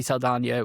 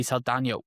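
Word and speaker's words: Saldaña: Um actually, it's funny you say you say Zoe Salana. when did she start putting the accent above the N and really getting that um more authentic pronunciation?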